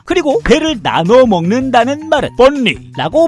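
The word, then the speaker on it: 分梨: 그리고 배를 나눠 먹는다는 말은 뻔리라고 발음하는데 역시 같은 발음에 다른 뜻으로 뻔리라고 하면 이별한다는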